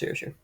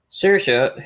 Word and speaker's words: Saoirse: I think it's pronounced Saoirse.